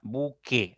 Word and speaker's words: buque: buque no tiene igual si ustedes se escuchan al pronunciar esta palabra buque suena directo la e la u pasa desapercibida entonces no hay un